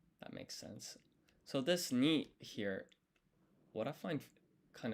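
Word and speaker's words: 二: So this ni here, what I find kind of interesting is the kanji for 2, which is pronounced ni, is written just like this.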